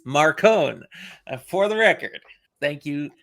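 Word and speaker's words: Marcone: pronounce Marone Marone and it was confirmed it's Marone but it's Johnny Marone no it's not it is Marone for the record thank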